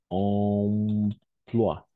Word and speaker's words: emploi: à la fin au milieu toujours on va prononcer wa donc emploi voilà si je devrais écrire de la même